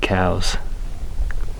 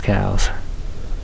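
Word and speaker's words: Coues: white-tailed deer has really you pronounce it cows it's somebody's last name I think it's maybe the person that first described him or something but it's not coos it's cows thanks for sharing hopefully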